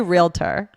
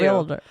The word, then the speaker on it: realtor: I say realtor. I do too. Realtor. But I know a lot of people who make it 3 syllables and say realtor.